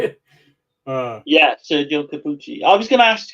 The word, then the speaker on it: Sergio Corbucci: Yeah, Sergio Corbucci.